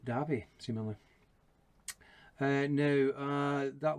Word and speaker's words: Davie: loch nadave that's d-a-v-i-e like davey but is pronounced debbie similarly and now uh